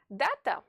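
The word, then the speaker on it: дата: father for example a besides the first a is stressed therefore you have to stretch its pronunciation say it louder and more clearly than the other a data dat this letter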